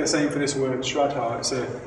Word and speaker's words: Shraddha: What Xuanzang had in bucket loads was this quality called Shraddha, and it's spelled S-R-A-D-D-H-A, Shraddha.